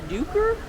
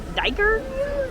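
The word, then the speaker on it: duiker: It's a blue duker? Diker? Oh yeah, it says rhymes with hiker, so it's a blue diker.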